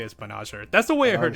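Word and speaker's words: Banagher: Like, I actually like found an episode of the dub to watch, or like a clip of the dub, and apparently they pronounce it Banager.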